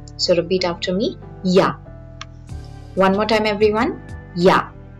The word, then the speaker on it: Ja: Next, if you want to say yes, repeat after me, Ja. Even though I'm writing J, alphabet J is pronounced as J, the sound of it is J, so repeat after me, Ja.